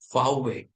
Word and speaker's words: VW: Now but the German will pronounce it as fway. Now because for him V is pronounced as fa and way is w is pronounced as way.